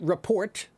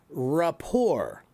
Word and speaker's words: rapport: That word is not report. That word is rapport. Rapport. The T is not pronounced. It's French.